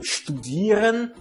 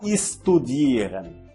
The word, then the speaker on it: studieren: O verbo studieren, que significa estudar. Note aqui neste verbo que a letra S não é pronunciada como S, e sim como SH. Studieren, não estudieren.